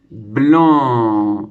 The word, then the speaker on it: blanc: La syllabe blanc qui s'écrit avec les lettres B, L, A, N. Puisque tu sais que le A et le N font le AN. B, le bleu et le AN, blanc.